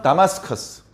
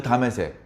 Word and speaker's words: 다마스커스: 그 다메섹, 이제 현지 발음으로 다마스커스라고 하는데 다메섹이 수도입니다.